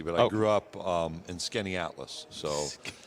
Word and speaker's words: Skaneateles: Skaneateles. Yeah. I never would have gotten that. In a sounded like it's spelled, I'd have never gotten that.